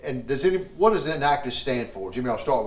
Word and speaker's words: Enactus: the name change to an actus which is three syllables in stands for entrepreneurialship